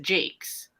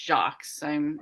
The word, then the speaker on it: Jacques: It's Jacques, but everybody there calls it Jakes, and I'm just like, I refuse to go along with you guys. It's Jacques.